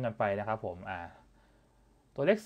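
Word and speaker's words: 일: ๆ ต่อ เนื่อง กัน ไป นะ ครับ ผม อ่า ตัว เลข 0 นะ ครับ ผม ตัว เลข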